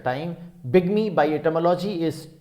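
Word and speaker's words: bigamy: लोग ऐसे बाईगैमी बोलते हैं, लेकिन ध्यान रखिए बिगमी इज the right pronunciation, as we will discover letter.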